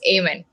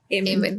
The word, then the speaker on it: Aemen: It's Aemen. Amen.